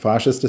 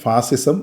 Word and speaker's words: ഫാഷിസം: ഉപയോഗിക്കുന്ന ഒരു വാക്കാണ് ഫാഷിസം, ഫാഷിസ്റ്റ് സർക്കാർ എന്നൊക്കെ. പലപ്പോഴും മലയാളികൾ ഇതിനെ തെറ്റിച്ച് ഫാസിസം അല്ലെങ്കിൽ ഫാസിസ്റ്റ് എന്നൊക്കെയാണ് പറയുന്നത്. ശരിയായിട്ടുള്ള ഉച്ചാരണം ഫാഷിസം എന്നും ഫാഷിസ്റ്റ് എന്നുമാണ്.